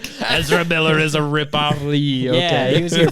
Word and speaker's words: Leigh: How do you pronounce Leigh? Lee. Or is it? Yeah, Lay. I think that's. I think it's Lee though. I just watched Haunting of Hill House, and Steve's wife name is Lee, spelled the same way.